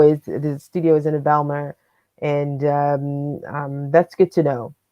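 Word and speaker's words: Bijlmer: So it's called Biljma, Biljmer. MER, Biljma, okay. Yeah, I can put the link in the chat. Biljma, yeah, sure. Feel free to. Oh, that's Belma then. Belma, yeah, my pronunciation's bad, so apologies.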